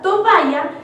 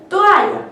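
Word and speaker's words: toalla: errónea como por ejemplo la palabra tovaya que en realidad se dice toaya pero la gente cree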